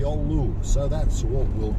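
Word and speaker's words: Giolou: or two here we are the village of Galu or yolu however you want to pronounce it but I was told it's pronounced y yolu so that's what we'll call it there's a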